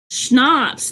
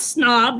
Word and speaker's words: schnapps: Schnapps. That's what you're saying. Not snob. Schnapps.